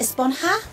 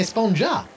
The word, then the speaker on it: Esponja: huh actually it's pronounced esponja with an H sound at the end really but we've all been saying a spoon jar yes I know it's